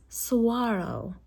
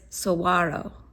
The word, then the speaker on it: Saguaro: couch um it's pronounced swaro and so the g is silent not silent it's not a hard G it's like a w instead but you say it